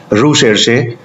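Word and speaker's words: recherche: यह जो वर्ड है रिसर्च यह एक फ्रेंच वर्ड जिसका प्रोनाउंसिएशन है रू शेरशे से लिया गया है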